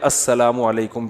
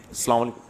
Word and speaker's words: السلام علیکم: علیکم اور صلی اللہ علیہ وسلم کا صحیح تلفظ بتا دیں. السلام علیکم کا ہے السلام علیکم, جو آج کل لوگوں نے ساشے پیش کر رہے ہیں سلام, السلام علیکم, ایسے سلام ہو رہا ہے, السلام علیکم.